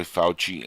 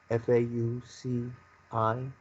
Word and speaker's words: Fauci: And do you think that Trump was being fooled by Fauci and by the World Health Organization, and he was used like a pawn in a sense?